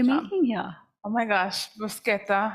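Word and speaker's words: bruschetta: here oh my gosh brusketa I learned the pronunciation of it we had a class earlier this week she said brushetta on this stage with the Italian crew and they all went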